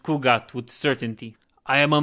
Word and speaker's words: Khu'gath: pronounced Kugat with certainty.